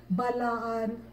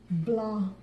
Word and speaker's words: Blaan: like Bilaan, Bilanes, Biraan, Balaan. That is not what we call ourselves. My folks on the mother side just say Blaan.